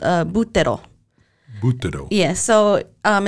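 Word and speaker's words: buttero: BTO yes so um it's spelled b u t t e r o so we would want to say BTO but they most Italian words the emphasis is right away in the first syllable so BTO and there's actually a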